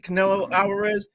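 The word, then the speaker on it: Canelo Álvarez: Am I pronouncing this right? Canelo Alvarez?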